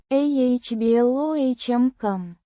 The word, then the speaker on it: обломком: Pronounced. ah-BLOHM-kahm. With the stress on the second syllable.